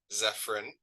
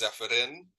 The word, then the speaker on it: Zephyrin: The normal English way, I guess, is Zephyrin. The actual pronunciation is Zephyrin. So either is fine with me, but it was given to me, if that answers your question.